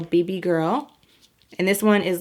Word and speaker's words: BBGRL: the next one is baby girl but it's spelled bbgrl so BB girl and this one is